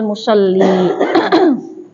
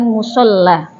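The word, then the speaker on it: مصلّي: masuk ke babu sutratil musolli. Itu dibacanya musol ya bukan musolla. Apa bedanya musoli sama musla? Musoli orang yang salat. Kalau musalla tempat salatnya. Jadi beda harakat saja, beda ma makna.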